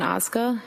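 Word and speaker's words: Ozga: Tell us your name, please, and spell it. It's Osca.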